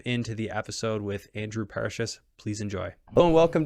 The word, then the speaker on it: Parashis: It's Parashis, but it's all good.